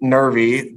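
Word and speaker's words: Nervie: is actually uh nervy Reynolds n-e-r-v-i-e but she pronounced it nervy which sometimes got spelled n-e-r-v-y which eventually started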